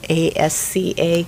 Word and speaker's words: ASCA: american school counselors model a s c a i always pronounce the c and the s backwards so asca and so so they